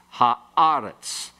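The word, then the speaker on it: הָאָרֶץ: And eretz becomes aretz with the he, ha-aretz.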